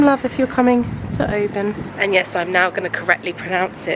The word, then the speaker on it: Oban: I just wanted to give it some love if you're coming to Oban. And yes, I'm now going to correctly pronounce it.